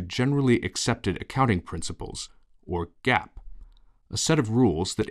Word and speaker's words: GAAP: The term generally accepted accounting principles, or GAAP, pronounced GAAP, refers to a set of rules followed by accountants in preparing companies' financial statements.